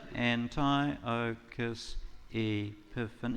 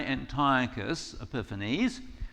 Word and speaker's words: Antiochus Epiphanes: So, I want to talk about this guy, Antiochus Epiphanes. You want to try it with me? Antiochus Epiphanes. That's 8 syllables, I think, isn't it? Antiochus Epiphanes.